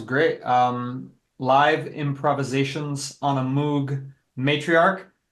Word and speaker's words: Moog: Live improvisations on a Moog matriarch. Some people pronounce it Moog, but the charlatans here in the northeast of America typically pronounce it wrong as Moog, which is not how you pronounce the name.